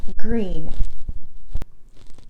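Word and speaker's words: Gruene: This one is pronounced Bernie and Green.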